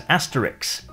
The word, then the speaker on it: asterisk: Another example from English, we have the word asterisk, which refers to this little star-looking symbol. Oh wait, not that one, this one. Some people pronounce it as asterix.